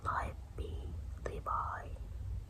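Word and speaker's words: Livy: Thus ancient historians such as live Bi, how you pronounce it?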